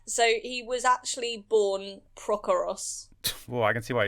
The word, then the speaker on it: Prochorus: So he was actually born Prokoros. Well, I can see why he changed it then. But yes. Prokoros. Prokoros or Prochorus, I guess. Spelled like pro-chorus. But not like Pacoras, because that would be...